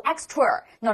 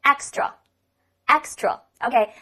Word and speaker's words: extra: 人喜欢读 extra，no，没有这个儿化音，读作 extra，tra，tra，tra，而不是 tour 这个音。OK，再来一遍 extra。OK，它呢是个